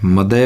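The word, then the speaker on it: mother: मदर नहीं होता, मदय होता है।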